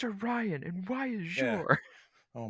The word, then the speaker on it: Orion: shade of blue um but yeah orans it's pronounced a Ryan and why is your oh my God so